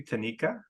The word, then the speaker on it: Tanika: for agreeing for an interview um am I pronouncing your name correctly Tanika correct yes it's t yeah so thank you